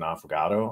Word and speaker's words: affogato: I will say one of the most underrated desserts you can possibly make is an affogato, I believe is the pronunciation.